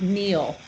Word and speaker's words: kneel: It, it's the past of the verb kneel, to kneel, which is also spelled with a K. K-N, but we don't say the K. Kneel.